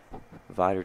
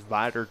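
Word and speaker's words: Vidor: His junior year now, 5'11 from Vider, Texas. Pronounced that right. Yeah, I think I mispronounced that last time. I did. Is Vider Texas. Got to have a little twang when you say that one.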